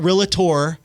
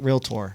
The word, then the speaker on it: realtor: way thank you not it's not realator or realtor it's realtor right real tour Round of Applause there